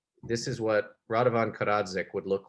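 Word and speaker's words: Radovan Karadžić: By the way, it's Radovan Karadzic is how you would pronounce it.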